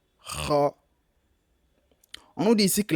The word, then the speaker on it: ra: Donc le 5, la lettre R, on l'appelle la lettre R. Ro, ce n'est pas la lettre R. La lettre ra.